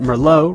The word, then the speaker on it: Merlot: Remember that Merlot rhymes with Sloppy Joe.